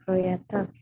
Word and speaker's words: creator: Ya, bukan O ya. Di Inggris jarang kalau O dibacanya O gitu. Jarang, nggak kayak Indonesia. O dibacanya O bulat, dia kayak creator.